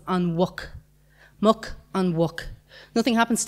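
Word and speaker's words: an mhuc: So muck, when you say, is a pig, and then when you say the pig, it becomes on wuck.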